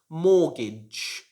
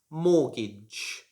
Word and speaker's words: mortgage: word should be pronounced mortgage mortgage should not be pronounced mortgage so the t is silent in this one like one day i